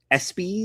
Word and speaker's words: ESPYs: Uh but Marcello Hernandez will be hosting this year's ESPYs. Is that Is that how it's pronounced?